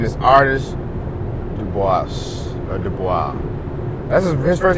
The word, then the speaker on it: Du Bois: I'm saying Dubois, but it could be Dubois, so I don't know. The boys. Okay. The boys. The boys. That's how you say it all the time. The rap boys. I've been saying it all the time. W.E.B. Du Bois. Web Du Bois. Yep. It's the boys.